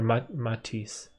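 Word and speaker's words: Métis: indigenous people huh so we have like a similar french canadian word to matisse they spell it m-e-t-i-s or matisse matisse have you tried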